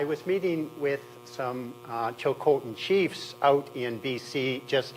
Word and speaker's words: Tsilhqot’in: it down for me phonetically that the correct pronunciation is actually Sil coine not CH Cen um and just on this I should tell